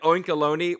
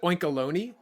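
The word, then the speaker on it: Oinkologne: quick you pronounce it oinkeloni what do you pronounce it as oink alone like cologne see I always pronounce alone like I thought it went like baloney but I guess uh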